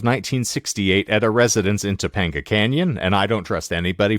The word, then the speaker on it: Topanga Canyon: Canyon is a place I kept thinking you were mispronouncing Topeka Kansas no not Topeka Kansas it's Topanga Canyon California okay all right moreover